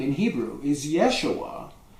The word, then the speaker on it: Yeshua: name in Hebrew is Yeshua which begins with a y um and but that